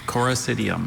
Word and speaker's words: Coracidium: Coracidium.